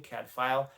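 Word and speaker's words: Cadfael: and brother Cadfile is from Wales that's the pronunciation of his name Cadfile.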